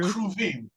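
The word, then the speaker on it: כרובים: guess that would be, is that cherubim in Hebrew? Yeah, kruvim. Okay. Right. Kruvim comes from the karuv, which means to be close to God. So you had the two kruvim, forgive me.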